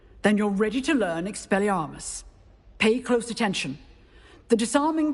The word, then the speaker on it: Expelliarmus: Expelliarmus!